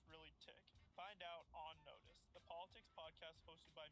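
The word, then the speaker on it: NOTUS: Follow and watch On Notice, that's spelled N-O-T-U-S, on Spotify.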